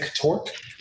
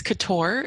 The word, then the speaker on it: Catorc: Technically, it's Couture. It's the most round. It's just the C is in there for some reason. It's French, so it's a silent C.